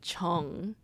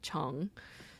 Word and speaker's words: 정: there's this word called chung. It's, I guess, it's pronounced the same as my last name, but the Sino-Korean character is written differently. It stems from the Chinese character chung.